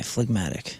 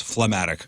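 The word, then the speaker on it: phlegmatic: TI i c okay fmatic fmatic uh having unemotional and stolidly calm disposition there you go that's I said it wrong I thought it was phatic H it's the most stable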